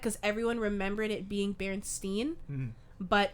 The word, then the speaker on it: Berenstain: i said it wrong it's not the berenstein bears you guys know that right it's the berenstain bears that was like one of those mandela effect because everyone remembered it being berenstein but it's not bear